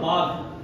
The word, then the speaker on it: বাঘ: আমাদের যে মহাপ্রাণ বর্ণ, যতক্ষণ না আমরা হাওয়াটাকে বার করছি, তখন ভয়ের উচ্চারণ হতে পারে না। বাঘ, এই হাওয়াটা বার না করলে সেটা ভয়ের উচ্চারণ।